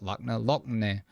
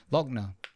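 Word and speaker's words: Lockne: Not Lachna. Lochner.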